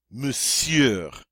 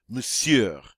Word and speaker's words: monsieur: Thank You moose yeah Monsieur now this one's a little tricky cuz you see that Oh in there but it's silent we just say the seer powered Monsieur and that means mr.